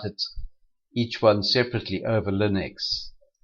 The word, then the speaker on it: ln: And we pronounce it lin x. Now when we differentiate e to the x we get e to the x straight back. We mentioned that when we differentiate lin x we get 1 /x.